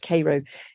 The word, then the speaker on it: Cairo: Cairo in Egypt but I was told it's pronounced Koo Illinois and he parodied it in Martin chuzzlewit